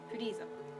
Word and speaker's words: Frieza: Another person said Fleeza. I'm like, geez, everybody confused with their name. That it's Freezer. Frieza. Frieza.